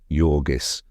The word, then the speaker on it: Jurgis: And she had just been married and married to Yorgis, pronounced Yorgis of all men, to Yorgis Rutkus.